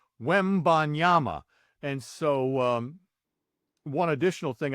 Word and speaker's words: Wembanyama: The Ban is where you can really mess that up. Wembanyama.